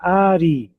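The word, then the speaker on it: ארי: Ela é aberta porque termina em vogal. Aqui, por exemplo, a palavra ari. Ari. Nós temos em português esse nome, né? Ari. nome ari em português. E no hebraico ari ou ari é leão, é o nome de do animal leão. Ari existe o nome Ariel, pode ser traduzido como o leão de Deus, né? A Ariel. Ari. Ela tá terminando com vogal, a vogal i.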